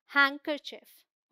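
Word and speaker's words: handkerchief: ही sandwich मैंने बताया एक यह वर्ड है यहां भी डी साइलेंट है इट्स हैंकर चफ ऑलराइट हैंकर चफ रुमाल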